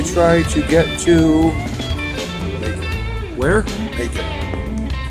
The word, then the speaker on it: Macon: Macon. Macon, which rhymes with bacon, which means there's probably no Jewish people there.